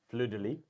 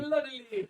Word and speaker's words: fleur-de-lis: Fleur-de-Lis. Fleur-de-Lis. The Fleur-de-Lis. Fleur-de-lis. Fleur-de-Lis. Fleur-de-lis. It has the tray. So axes, Fleur-de-Lis, and a bunch of other things, but not the old ones are all gone. Fleur-de-lis.